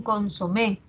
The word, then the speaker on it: consomé: letra s por ejemplo consomé es aguda las personas dicen un consomé eh al margen de cóm se escriba la pronunciación es aguda lo mismo pasa con